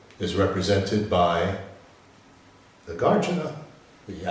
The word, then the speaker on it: Nagarjuna: so that for instance this is the way that it should be pronounced like uh you know the name the gardener The Gardener that's the set the actual Sanskrit uh pronunciation and then some two short syllables the guardian now I hear somebody saying nagarjuna and that sounds terrible to me but I can understand that they're saying nagarjuna but in my mind